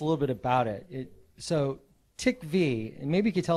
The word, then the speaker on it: TiKV: So TiKV actually, so that's the pronunciation of the project. Ti just stands for titanium, and KV stands for key value.